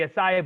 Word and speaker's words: acai: probably going to say it wrong, but there's AK bowls. Okay. Those AK bowls that have like it's like protein. It's like almost like protein. It's got all the fruits and stuff laid on Oh, it. the acai bowl, yeah.